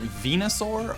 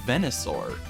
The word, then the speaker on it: Venusaur: i say it wrong is it venusaur or venisor why would it be venosaur venusaur venusaur isn't that how i said it flashback venusaur is great